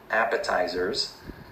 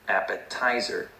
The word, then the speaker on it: appetizer: speaker, this worker, and she stressed the wrong syllable. She said appetizer, and the way she said it was very hard to understand for the native speaker because he was expecting her to say appetizer. That's the correct way to say it.